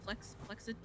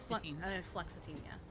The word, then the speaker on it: fluoxetine: Oh, did you say flexitine? Fluoxetine. Fluoxetine, yeah.